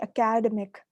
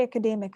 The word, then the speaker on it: academic: So because we're from the Indian subcontinent, what do we call it? You must have heard us, many of us say academic, right? So it's actually academic. So that's a mispronunciation.